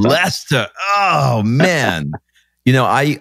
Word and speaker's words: Leicester: to say it right leechester leicester closed last year lester oh man you know